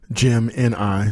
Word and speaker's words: Gemini: want to talk about called Jim and I Jim ni so that's Gemini the way it's spelled GE mi ni and then space GE